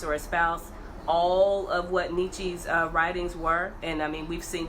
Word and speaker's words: Nietzsche: Nietzsche, Quayshawn says Nietzsche. That's how you Nietzsche?